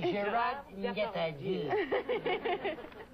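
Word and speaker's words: Gérard Depardieu: Gerard Depardieu.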